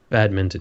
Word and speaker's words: badminton: It is not mitten. It's not a bad mitten. It's a bad mint on. Don't forget the N. Minton. Minton. Badminton. That sounds too British. Badminton.